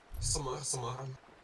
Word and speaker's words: Самара: А, Самара как читается? Подожди. Где-то вот про Самару был. Во. Самара.